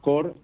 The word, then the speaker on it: Core: El fondo que asesoro se llama Core Value FIL, Core C-O-R-E. C-O-R-E, Core, para aquellos que no quieran pronunciarlo en inglés, pero es Core Value